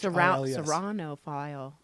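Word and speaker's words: ceraunophile: Srano file.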